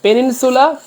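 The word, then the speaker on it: peninsula: আইসো এন্ড পেলেগু আচ্ছা পেনিনসুলা নাকি কন্টিনেন্ট কোনটা হবে আমি একটু ব্যাখ্যাটা দেখাই ভালো লাগবে ইয়েস আইজের মানে দ্বীপ পেনিনসিলা যদিও সুলা আছে শব্দটা কিন্তু উচ্চারণ হবে সিলা সিলা পেনিনসিলা পেনিনসিলা মানে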